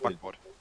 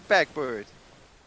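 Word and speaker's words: Backbord: Steuerbord and backboard. It's board, not bird.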